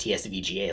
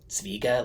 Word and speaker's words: TSVGA: I thought it was pronounced TSVGA, like just saying the letters, but I think I saw James Barry, the perfumer, say it like Svega, like it's based on a tree with a similar name.